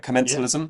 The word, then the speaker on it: commensalism: Commensalism?